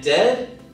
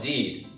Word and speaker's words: dead: sounds like bird and dead it's said like bed not bead for goodness sake don't call it deed watch out for meat